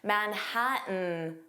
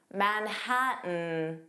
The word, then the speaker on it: Manhattan: The T in Manhattan wasn't pronounced. It sounded like Manhattan, Manhattan.